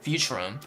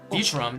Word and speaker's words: Futurum: Uh not for the humans and not for the people of Futurum. Futurum. That's the name of this planet. That's how it's it it sounded pronounced in the logical tongue.